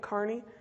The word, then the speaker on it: Kearney: Is that how you say it? Kearney? Yeah.